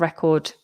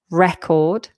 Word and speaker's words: record: The noun has the stress at the beginning record. And the verb record has the stress um on the second syllable.